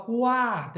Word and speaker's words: quarta: Agora, na palavra quarta, eu consigo escutar o som do U e do A.